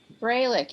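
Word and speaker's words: Froehlich: Braylich, F like Frank. ROEH. LICH. Right, Yeah, that's it. yeah. Okay.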